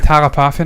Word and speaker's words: Thalapathy: Yes, I call it Thalapathy now because apparently we were saying it wrong.